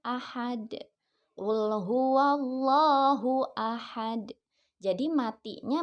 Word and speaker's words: ahad: Nah, asalnya itu dibacanya ahadun. Karena diwakafkan jadi dibacanya ahad.